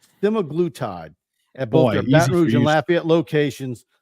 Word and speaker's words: semaglutide: assisted weight loss with semag glude or semaglutide that's the correct pronun pronunciation semag glute semaglutide at both La at